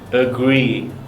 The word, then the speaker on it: agree: word you'll notice how it's spelt with an A but we don't pronounce that vowel this is called a schwa okay the two words are burn burn and agree agree okay next up